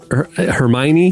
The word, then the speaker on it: Hermione: Was it Hermione from Harry Potter?